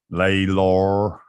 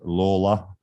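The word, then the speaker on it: Lalor: say Brisbane and Melbourne where are they called laylore hey big freaks up here proper pronunciation is Lawler yeah yeah well you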